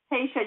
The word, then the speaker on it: Haisha: lisa hey am i saying that right lisa tasha you just don't pronounce the eye okay uh on with us